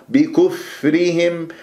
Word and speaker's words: بكفرهم: بكفرهم، كسرة الباء بكفرهم، لا تسحب ضمة الكاف إلى الفاء الساكنة وتنطق الفاء والشفاه مضمومة، بكف خطأ، بكف خطأ، بكفرهم، والفاء ساكنة تتجلى الصفات